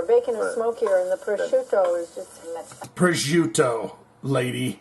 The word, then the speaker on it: prosciutto: And you want to throw in your prosciutto.